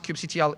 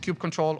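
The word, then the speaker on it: kubectl: yes that's the only way you're allowed to pronounce Cube CTL in my presence so please do not pronounce it Cube control or cube cutle um and you basically can do a port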